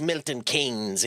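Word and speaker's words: Milton Keynes: Like it is pronounced Milton Kings even though it's spelled so weird.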